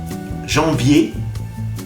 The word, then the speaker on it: janvier: Janvier. En. Janvier. El sonido en de enfant. Vier, sonido E. Janvier.